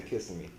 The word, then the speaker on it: Kissimmee: I say Kissimmee.